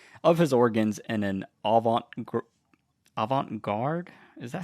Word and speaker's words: avant-garde: showcases the metamorphosis of his organs in an avant-garde? Is that how you pronounce it? Yeah. Okay. In an avant-garde performance.